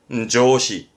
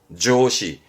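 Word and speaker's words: 上司: 사회, 사회자의 사회, 발음은 시카이, 시카이. 그리고 또 뭐 있었더라? 직장 상사는 조시, 조시.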